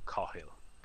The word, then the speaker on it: Cathal: right and he'll so car he'll this is just the easiest way to do it if that doesn't work